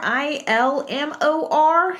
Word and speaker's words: Ilmor: He was with Ilmor, ILMOR, so I'm pronouncing it Ilmor, who worked with Honda in their IndyCar as well as Ford and Cosworth.